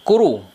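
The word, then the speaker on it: 来る: Kemudian ada ini kuru, kanji datang. Kanji datang ini kalau berdiri sendiri ini dibaca kuru.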